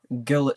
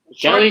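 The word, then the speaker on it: ghillie: Just camping in the gillet suit or something. Gilly suit, not gillet suit. That's like gillet suit.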